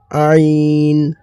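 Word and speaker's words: عين: আর এটি হচ্ছে জ আইন আইন আইন আইনটি একদম গলার হালাক থেকে বের বের হবে গলাটা চাপ দেওয়ার মতন করে আইন গইন গ আইন গইন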